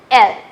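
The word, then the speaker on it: elles: Here also s is silent, so it is il, elle.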